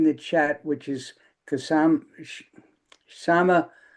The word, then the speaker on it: Kshama: So, Paul has put uh Kashama's website in the chat, which is Kasam Sama. It's spelled with a K, but you don't pronounce the K.